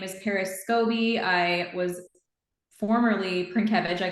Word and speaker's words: Scobie: time but now it's easy so now it's scobby you can either it's either two ways to